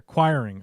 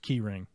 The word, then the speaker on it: Quiring: Oh, my last name is pronounced like enquiring. I'm like, where's the en come from? I'm an idiot. It's full on dum-dum over here. Quiring. Okay, that's how it's pronounced.